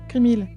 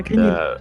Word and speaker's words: Grimhill: Grimil. Pas Grinil.